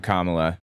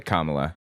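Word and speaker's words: Kamala: Anyway, I didn't need to hear from Kamla. That's how her name is pronounced, by the way. Kamla.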